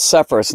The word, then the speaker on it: Sepphoris: And then right up here was the capital of this area, and it was right here called Sepphoris.